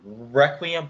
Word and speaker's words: Requiem: so far, joining Korn's new album, which is Requiem. That's how you pronounce it, and Don't FM by The Weeknd.